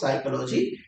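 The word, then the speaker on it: psychology: तो बस अब इसका कंफर्मेशन डिक्शनरी से कर लीजिए कि इसमें पी साइलेंट है और उसको साइकोलॉजी पढ़ा जाएगा।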